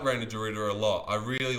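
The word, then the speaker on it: Reinier de Ridder: Reina Dorita. Reina Dorita.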